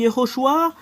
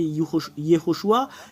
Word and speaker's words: Yehoshua: vous de voir mais la vraie prononciation du nom de Josué c'est Yehoshua quelle est la raison